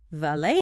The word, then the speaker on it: valet: Like bouquet, the T is silent in standard British usage. It's pronounced valet.